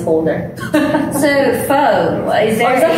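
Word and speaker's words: phở: So, pho. Is that how you pronounce it? I'm sorry. So, technically, we should be saying pho.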